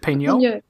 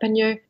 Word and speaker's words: Peignot: I might mispronounce Colette's name here, but it's called The Passion of Colette. Is it Peignot? Peignot.